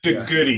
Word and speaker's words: DeGoede: My last name is pronounced Doody, not how it's spelled. Doody. Doody.